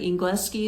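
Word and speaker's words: Engleski: He said something in Serbian and I said English, like Ingleski is how they say it.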